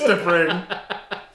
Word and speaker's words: T'Pring: I keep thinking it's like Ping from Mulan. It's T'Pring.